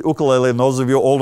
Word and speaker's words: ukulele: take your pick but it is the actual pronunciation Ooka Lily and those of you old enough to remember